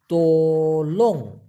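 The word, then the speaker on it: tolong: অপরদিকে তোলং টি ও এল ও এন জি উচ্চারণটা হবে তোলং এই তোলং মানে হচ্ছে অনুগ্রহপূর্বক অথবা দয়া করে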